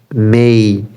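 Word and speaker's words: May: এরপরে মেই, মে না, মেই, মেই। ওই যে এ ওয়ের উচ্চারণ আমরা পড়ছিলাম, স্টেইল, এই রেই, বেই, মেই, ওয়েই, খেলেই, ওখেই, ফ্রেই, ডিসপ্লে, রিপ্লেই, সেটার মেই, মেই, মেই, মেই।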